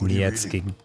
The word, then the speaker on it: Nietzsche: Doesn't even have Nietzsche. It's pronounced Nietzsche.